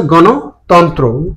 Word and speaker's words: গণতন্ত্র: সঠিক উচ্চারণ হচ্ছে গণতন্ত্র, তন্ত্র না, গণতন্ত্র।